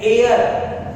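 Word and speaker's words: heir: जैसे अगला शब्द है हेयर, गलत है, इसको हेयर नहीं पढ़ते हैं, इसको पढ़ते हैं एयर, और एयर यह हिंदी का वॉवेल साउंड है।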